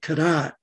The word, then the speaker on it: Cadotte: involved with the british the british saw the t on the end and pronounced it kadat and it took over